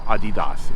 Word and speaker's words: Adidas: Or before you correct me, and you want to use the original pronunciation or the correct pronunciation, we could call it Adidas, if that makes it better for you.